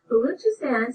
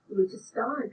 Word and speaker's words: Baluchistan: Looking it up, I found that there are two pronunciations and they both start with Balu. Baluchistan seems to be favored in what is said in the Pakistani news reports I listened to. I only heard Baluchistan come out of the mouth of a posh-sounding BBC reporter once. Both are listed as proper pronunciations.